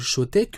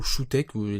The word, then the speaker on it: Choetech: C'était un câble de la marque Showtek, ou Showtek, c'est écrit à l'écran, donc vous pourrez le prononcer comme vous voulez à la française ou à l'anglais, RPZ de la France, hein.